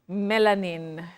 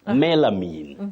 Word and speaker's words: melamine: you commonly hear locally how do people pronounce this word melanin or melanine but most of the time melamine oh yeah you have got it right melamine melamine but many people